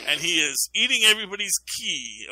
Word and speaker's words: qi: He is Gold Horn Penguin now, and he is eating everybody's chi, or it's spelled QI. And I learned that can also be a CH or a C sound, so that's what's going on there.